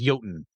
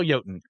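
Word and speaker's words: jötunn: progenitor of all Giants also known as yoten or joton depending on who's pronouncing it I'm going to say yoten because that's one I'm familiar with as he slept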